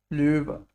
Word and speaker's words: Löwe: Yes, how do we pronounce this? Löwe. Ö. Löwe.